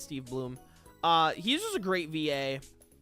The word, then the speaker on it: Steve Blum: I mean, Steve Blum is just a great VA in general. Or Steve Bloom. I keep forgetting how it's pronounced. I think it's Steve Bloom.